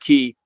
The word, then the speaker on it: Kei: It's spelled Kei, and it's pronounced Key.